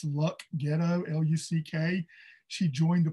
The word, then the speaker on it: Luck: She escaped, and I know I always pronounce this wrong, it's Luck Ghetto, L-U-C-K.